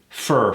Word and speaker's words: for: schedule for next week fur fur fur kill that o for next week excellent